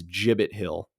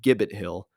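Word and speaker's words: Gibbet Hill: It's Jibbit Hill. In the video, I keep calling it Gibbit Hill, which is incredibly embarrassing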